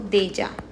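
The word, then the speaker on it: déjà: we're going to do that as well so Deja Deja means already already as we say deja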